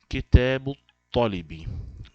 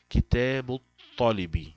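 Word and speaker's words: كتاب الطالب: Então, kitabu tolibi. Lembrando que o to, harf shamsi. Então, esse alif lam não será pronunciado. Kitabu tolibi.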